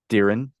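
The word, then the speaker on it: Dirrin: time being no thank you says how'd you pronounce his name Daren d i r r i n this one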